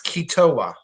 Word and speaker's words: Keetoowah: Keet. Wah. Wah. Keto or Okay. Ketowa. It's Ketowa.